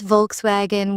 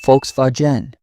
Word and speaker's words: Volkswagen: Some pronounce Volkswagen with English sounds. Germans say Volkswagen.